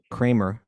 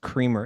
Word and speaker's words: Cremer: It might be pronounced Creamer. It's spelled Cremer. I don't care. Okay, it's not Kramer It's not Kramer from Seinfeld. Okay, because good.